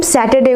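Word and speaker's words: Saturday: Okay, जो इसमें आर होता है वो प्रोनाउंस नहीं होता। आर जो होता है साइलेंट वर्ड होता है इसमें, ओके। तो इसको हम सैटरडे ना बोल के हम बोलेंगे इसको सैटरडे, ओके।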